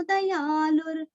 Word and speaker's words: दयालुर्: यहाँ पे द्या नहीं आता है, द अलग है या अलग है।